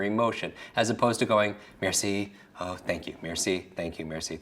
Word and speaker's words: merci: Merci, right? Merci. Now, what do you picture? Merci. What can you picture for merci? Just break it down into syllables. Mare.